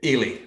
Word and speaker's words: Ely: Am I pronouncing your last name correct? Ely, that's okay.